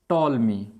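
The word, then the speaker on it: Ptolemy: अब कहने वाला था कौन, तो टॉलमी। आप कहेंगे पी साइलेंट है, टॉलमी नाम का साइंटिस्ट था।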